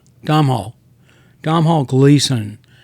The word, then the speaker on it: Domhnall: Does does Dom do Dom say his name Domh Hall Domh Hall Domhal Gleason not remind you in this movie in this character as a young James Spader in Lesn.